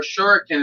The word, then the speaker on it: Shuriken: Or Shuriken is how they really say it.